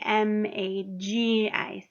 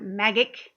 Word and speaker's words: magic: So it should be M-A-G-I-C because that G is a soft G. It's not magic, it's magic, right? It makes that J just sound.